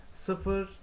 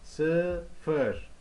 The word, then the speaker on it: sıfır: Sıfır, on. Sıfır, zero. On, ten. Okay guys, so let's start here with the zero. Zero means in Turkish sıfır, sıfır, sıfır, sıfır, sıfır.